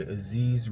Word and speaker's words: Aziz: It's your boy Aziz, rhymes with disease, back for another video, and I hope everybody is doing great on this Thursday.